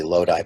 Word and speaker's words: Lodi: I want to say Lodi, but it must be pronounced Lodi in Italian, and Bergamo, which are adjacent to each other in Lombardy, near Milano.